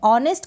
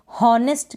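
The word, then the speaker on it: honest: तो यहाँ पर H को हम क्या कर रहे हैं, साइलेंट रख रहे हैं, प्रोनाउंस नहीं कर रहे हैं। हावर ना पढ़े, हार ना पढ़े, हॉनेस्ट बिल्कुल ना पढ़ें, गलत हो जाएगा।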